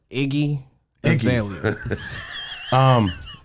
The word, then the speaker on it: Iggy Azalea: Iggy Azalea.